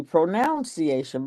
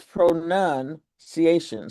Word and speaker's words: pronunciation: And it's a smart mistake to think that since pronunciation comes from the word pronounce that it should be pronunciation, but it's not. It's pronounce, but it's pronunciation.